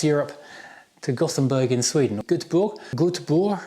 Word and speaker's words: Göteborg: Göteborg, I think you pronounce it in Swedish, because we wanted to